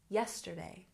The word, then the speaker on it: yesterday: a look at pronunciation yesterday has stress on the first syllable yesterday yesterday and visited this one is